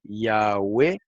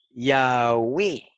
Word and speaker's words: Yahweh: Yahweh, Yahweh, Yahvé y Yahweh.